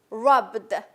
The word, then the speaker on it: rubbed: But how it's pronounced? It's pronounced B and D. Rubbed.